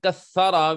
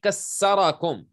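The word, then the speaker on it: كثر: Okay, so instead of saying kathara, which is with tha, you say kassarakum. Fakassarakum. Kassara means he broke you. So it changes the meaning completely.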